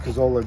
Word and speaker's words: Cazzola: 0181 is my ID number, but yeah, it's pronounced Cazzola, just like the You're a sergeant? I am. Thank you. You're welcome. Just like the pizza place down there.